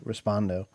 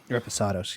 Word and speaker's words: Reposado: website or the the other one the the respondo Reposado I knew I said it wrong so again